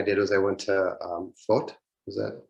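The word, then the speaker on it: Fót: So another thing I did was I went to FOT. Is that pronounced correctly? FOT, yeah.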